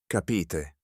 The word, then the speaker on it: capite: In the third conjugation, the singular ends in a short E, but that E shifts to a short I in the plural. Listen for the change.